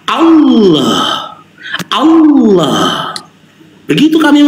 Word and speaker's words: Allah: Ya, huruf H ini makhrajul hurufnya al-halqi bagian bawah sama dengan alif, dan sifatnya ini adalah rokhwah, mengalirnya suara. Allah, Allah.